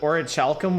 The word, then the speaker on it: orichalcum: That is pronounced Orichalcum.